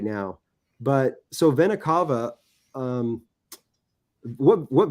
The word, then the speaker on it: vena cava: you know not not right now but so vena cava um what what vena cava is and it's actually pronounced vena cava it's actually like the big huge vein that